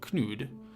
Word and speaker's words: Knud: called knude k-n-u-d and that is kanut it's like pronounced knut in english but the danish it's in swedish it's called knut and in danish it's called knude usually with those sorts of